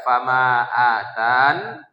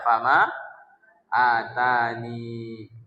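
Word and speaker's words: فما آتاني: Berarti bisa dibaca fama atan, bisa dibaca fama atani.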